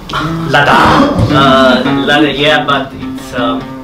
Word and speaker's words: Láďa: It's Láďa. It's with long A and with a very strange D in the middle. I try to pronounce it Láďa.